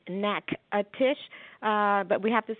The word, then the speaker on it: Natchitoches: we the pronunciation is n ACK ATIS H neck a Tisch but we have to spell it out on everything we print on everything